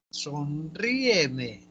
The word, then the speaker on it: sonríeme: Sonríeme, sonríeme. ¿Cuántas sílabas tiene sonríeme? ¿Cuatro? Ya, está bien. Sonríeme, 4. Ya, esta palabra, ¿se tilda o se tilda? Sí, Por porque es esdrújula.